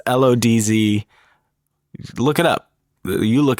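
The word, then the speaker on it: Łódź: He would later go on to study film at Lodz Film School.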